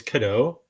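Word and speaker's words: Kado: am I um so my name is Kido uh it's spelled k a d o it is French it means a present like a gift um so if you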